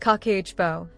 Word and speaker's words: Kakeibo: She called it Kibbo, pronounced kakehbo, which means household finance book.